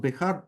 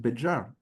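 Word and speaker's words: Béjar: It is pronounced Bihar only in modern Spanish. In medieval Spanish, it was pronounced Bejar, not Bihar.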